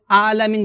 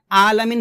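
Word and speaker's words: ٱلْعَٰلَمِينَ: আলামিন এখানে অর্থাৎ আইন খারাজ এখানে আমরা হামজা উচ্চারণ করি বলি রব্বিল আলামিন বলি আলামিন এখানে আলামিন বলা যাবে না বলতে হবে এভাবে মানে আইনটাকে গলার মধ্যখ খান থেকে চাপ দিয়ে আপনাকে উচ্চারণ করতে হবে।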